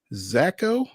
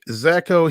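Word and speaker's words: Szako: baseball Austin peas Brody zacho I guess the S is silent s z a KO hit four home runs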